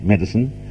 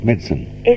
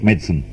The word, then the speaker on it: medicine: in Australia we are quite entitled to say medicine but the correct the strictly correct English pronunciation is medicine and it is right according to the high standards of English pronunciation in England its medicine all right I advise a pleasure Dame Peggy